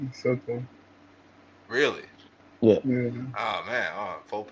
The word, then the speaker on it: Soto: just have to clarify: is his name Juan Soto or Sorto? Sorto. You said it right. Soto.